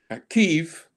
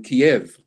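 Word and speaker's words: Kyiv: year we've seen that Kiev was always pronounced as Kiev uh before the Russians invaded so the ukrainians said no we don't want the Russian pronunciation we want our Ukrainian pronunciation so now when you hear the news you will generally hear news reader say Kiev rather than Kiev um and other examples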